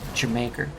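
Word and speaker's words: D'yer Mak'er: uh Zeppelin song is Tiger maker or if I wanted to pronounce it more correctly I would say Jamaica but Fool in the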